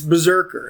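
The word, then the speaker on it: BRZRKR: there's a kickstarter that's out there and it's berserker it's a it's a new comic it's spelled uh brz rkr it's the first comic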